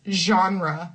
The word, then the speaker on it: genre: really difficult one because some words in English come from French but then we pronounce them in our way. So it's really weird because this word is genre.